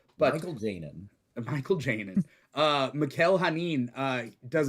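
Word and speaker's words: Mikel Janín: His name is Mikkel Hanin. Yeah, it is Mikkel Hanin, right? Yeah. Okay, because I was like, it could be just Michael and spelled like Mikkel. But Michael Janin.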